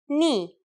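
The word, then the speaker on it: Νι: today is a consonant knee yes pronounced just like the knee on your leg its sound in Greek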